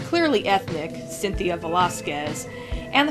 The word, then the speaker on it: Cynthia: I don't know if her name refers to anything, but it's clearly ethnic, Cynthia Velasquez, and the first syllable sounds like sin.